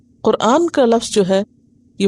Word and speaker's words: قرآن: نام قرآن ہی ہے، اور صحیح لفظ اور تلفظ کیا ہے؟ قرآن۔ اور یہ خالصتاً عربی زبان